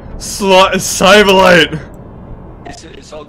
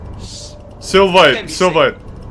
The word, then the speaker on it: sylvite: Galena, Sivalite! Is it all Galena? Yes! What else is it? Sivalite and Galena. Sylvite. Sylvite, yeah, I knew you were saying it wrong, Captain.